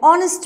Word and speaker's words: honest: an honorable man here also the letter h is silent and honor and honor and honest man the next one is a european man